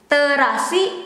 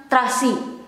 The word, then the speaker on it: terasi: It is the same with this. Terasi, it becomes trasi.